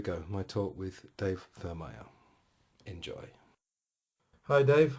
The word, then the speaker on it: Thurmaier: My talk with Dave Thurmaier.